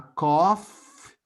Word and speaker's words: cough: And then it can be a cough. Observe the pronunciation. Cough. And please do not confuse cough with what we drink every morning. Coffee.